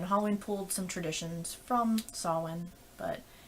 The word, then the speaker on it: Samhain: And then there's Samhain, which most of you would look at that word and say Samhain, but no, it's pronounced Samhain.